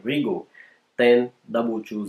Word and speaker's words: Rigol: of arrival or housing should be the right pronunciation Ringo then double to Z in the first part